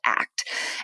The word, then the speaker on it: ACT: which it's it spells out act but we pronounce it act and these are evidence-based treatment approaches which means